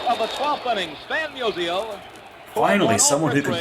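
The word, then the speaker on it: Musial: the last half of the 12th Innings fan Museo finally someone who can pronounce his name right notal home plight as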